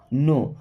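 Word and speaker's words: know: नो, अब इस word में के साइलेंट होता है ना, नो, नो का मतलब होता है जानना या पता होना।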